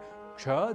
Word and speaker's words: क्ष: जी हाँ, उच्चारण की दृष्टि से विशेष पहला संयुक्ताक्षर है क्ष, जो बना है क और श के योग से। क और श मिलकर बनते हैं क्ष।